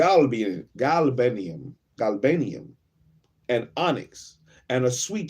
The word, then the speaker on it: galbanum: odor like the best myrr as G ganum galbanum and onyx and a sweet storax and a